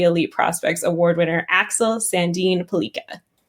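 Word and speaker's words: Sandin Pellikka: Tell us about the elite prospects award winner Axel Sandine Pelika. Great pronunciation there.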